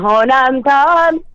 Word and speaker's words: 호남선: 그래 노래를 할 때는 호남선. 잠깐 호남선이 남았나? 일단 일어서셨어요, 이제? 네. 오케이. 좋았어. 좋아요. 그러면은 네. 뭐냐면은 네. 남자를 애기 발음 그러니까 뭐냐면은 애교 발음을 하면 안 된다는 거죠.